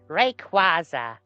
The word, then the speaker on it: Rayquaza: Rayquaza because that's how you pronounce it in German.